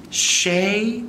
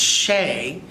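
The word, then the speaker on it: chez: book and it's called shay bob and that's shea c-h-e-z so the z is silent and it's in french like chef bob but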